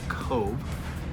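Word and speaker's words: Cobh: say on our ship in the city of of Cove it's spelled c o BH and it's also the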